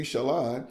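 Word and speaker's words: Shalen: your mama name you Shalon so you just you just tell them how to say it sh s h a then l o n even though it's spelled s h a l e n so yeah so names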